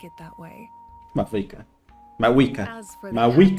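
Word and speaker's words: Mavuika: call me Mawika. It's what all my friends call me, and I like it that way. Mawika.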